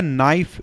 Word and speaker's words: NIFE: तो इसको कहा जाता है नाइफ, और हिंदी में इसको अगर आप प्रोनाउंसिएशन करेंगे तो इसको नीफे कहा जाता है।